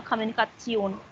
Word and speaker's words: Kommunikation: Just a quick tip, whenever we have tion in any of the verb, the pronunciation come as sion.